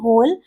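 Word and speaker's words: whole: एच ओ एल ई होल और एच ओ एल ई होल दोनों का देखिए होल और होल दोनों का प्रोनाउंसिएशन बिल्कुल सेम है लेकिन दोनों का अर्थ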